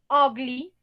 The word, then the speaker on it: ugly: Entonces, aquí, por ejemplo, ugly, ugly, esta U se pronuncia como una O, O.